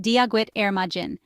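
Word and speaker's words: Dia duit ar maidin: The English phrase is good morning, and in Irish, it's dia duit ar maiden, pronounced dia gwit ar majin.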